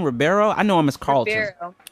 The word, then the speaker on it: Ribeiro: Ribeiro? I know him as Carlton. Ribeiro.